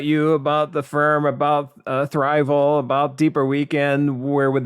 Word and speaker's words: Thriveal: And everybody says Thriveal. That's not how you pronounce it. But anyway. Well, I was even pronouncing it wrong because to me it was Thriveal. Yeah. And so, everybody says, but hey, I don't blame them. That's how it's spelled.